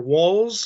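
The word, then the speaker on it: Walz: same with um Governor walls I'm going to try to pronounce that right I keep saying Waltz is in the dance but it's actually walls as in more than one you know wall um and um and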